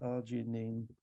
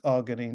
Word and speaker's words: arginine: ARG, see if I can spell it. Arginine.